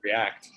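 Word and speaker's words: Reakt: you yeah okay um it is r e a k t i guess it's called react but with a k and that's i've been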